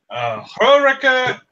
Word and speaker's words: Horik: Horika in Eldri. I think it's pronounced Rorik, but Is it supposed to be pronounced Rorik? yes. I can see it. The final R tends to be not voiced, and when you pronounce